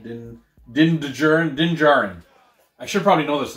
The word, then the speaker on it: Din Djarin: His name is Din Djarin? How do you say that? Din Djarin? Look at that name. He said Din Djarin? Din Djarin.